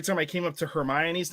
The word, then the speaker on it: Hermione: i wrote the first movie and someone said hermione that was the first time i heard her name pronounced apparently correctly and i was like who